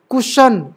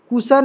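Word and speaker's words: cushion: वाला श ठीक है श सूज कुशन कुशन कुसन नहीं क्वेश्चन ठीक है फिर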